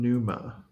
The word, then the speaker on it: pneuma: Everyone's going to start with 15 pneuma. Nice. Sounds great, but you burn through it fast in this game. So. Oh. How do you spell that? Pneuma. Like a pneumatic tube.